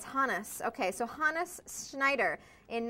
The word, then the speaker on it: Hannes: ski Meister Hannes Schneider Hannes am I've been pronouncing it wrong this whole time and you're just telling me now Hans I'm sorry I was thinking Hannes like you Hans I know it's Hannes okay so Hannes Schneider in 1939 from which